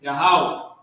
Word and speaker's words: Yahweh: God's name is Yahweh. Give her a hand. Give the sister a hand. Man, she about to know more than her pastor. Trust me. God's name is Yahweh.